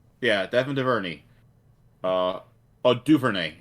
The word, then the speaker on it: Duvernay: Duverny. Yeah, Devin Duverny. Duvernay, actually, is how you say it.